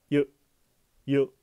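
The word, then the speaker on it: ゆ: 으다 글자는 유입니다이 글자는 한국어 유라고 발음하지만 입을 내미지 말고 발음해 보세요 한국말 유는 입술이 나옵니다 그렇지 않고 입술 내면적으로 가볍게 유 유 하고 발음하면 됩니다 유카 바다 유기 눈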